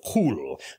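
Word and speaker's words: Kwll: of Rin and the eye of cool I believe that's how it's pronounced because it's basically Welsh and I steal more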